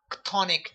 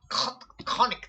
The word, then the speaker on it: chthonic: translated to risen land, as a primeval chthonic deity.